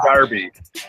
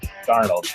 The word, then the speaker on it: Darnold: I said Sam Darby. Sam Darby for Heisman. Sam Darnold? Darnold, whatever his name is.